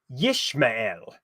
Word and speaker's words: Ishmael: So anyway, Ishmael was originally pronounced Yishmael, meaning that which God has hearkened, essentially confirming the fact that this was the son promised to Abram by God.